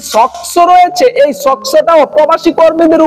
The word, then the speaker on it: SOCSO: হয় সক্স বাবত সো এখানে উচ্চারণটা একটু কঠিন যে সস্কো না সক সক্স টা কি চলুন এটা একটু